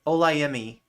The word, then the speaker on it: Olayemi: Emmy like the award, Olayemi. Okay, I was pronouncing it wrong before.